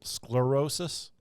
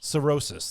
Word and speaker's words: cirrhosis: is diagnosed with uh how do you say it's sclerosis uh sirosis cirrhosis that's what it is those are different